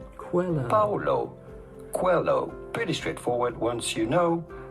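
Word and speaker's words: Coelho: to pronounce that how do you go about pronouncing his name Paulo Quello Paulo Quello pretty straightforward once you know Paulo hello cuello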